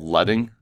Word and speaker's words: leading: is this other number this is called letting looks like leading how it's spelled it's called letting and that controls the